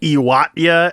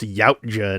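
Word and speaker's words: Yautja: He would normally say Iwata and it's like no man, Dan Trackctenberg locked it the in. It's pronounced Yaoja now.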